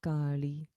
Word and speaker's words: Kali: so om krim maha kali short a because there's no line over the a okay again okay